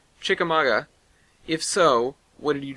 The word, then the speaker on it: Chickamauga: It was from Dean, and he said, did you go to the town of Oh god, he gave me a phonetic pronunciation. Chickamauga.